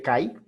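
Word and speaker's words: καί: Fíjate que son 3 oraciones. Esta es la primera oración. Unida por una conjunción que, o como se lee, que se escribe kai, pero debe leerse que por el diptongo.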